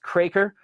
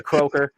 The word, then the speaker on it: Kroeker: If you're a Mennonite, it's pronounced Kroeker. The Mennonite side of our family kicked us out, though. We're not allowed to talk to them anymore, so we go by Kroeker.